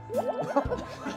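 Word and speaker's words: 먹태: (Next up is) (meoktae) (Looks at him) (Meoktae source) Daemyung! Daemyung? Anju (side with drinks)! - Meoktae! - Correct! (Got it right away) He mispronounced it. He said meoktweh.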